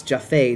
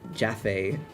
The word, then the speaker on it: Japhet: It's Japhet, not Jaffe. Thanks, Markiplier.